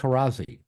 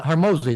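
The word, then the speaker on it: Hormozi: Their parents, you know, I was listening to uh um um Alex Horazzi. I'm saying his name wrong. Alex Hermosi. Yeah. Hermosi. That's it.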